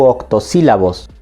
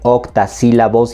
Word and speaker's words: octosílabos: Y ojo aquí, se llaman octosílabos porque hay varios que les dicen octasílabos y eso está mal. Quizás les dicen octasílabos porque piensan en octagón.